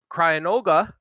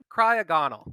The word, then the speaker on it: Cryogonal: You flipped your G and you're in. Cryogonal.